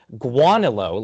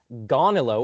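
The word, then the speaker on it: Gaunilo: differently i've heard people some people pronounce it guanalo like a ua and other people say like gonilo or ganilo i'm just i i don't know about you i'm just gonna say gonolo that's all i'm gonna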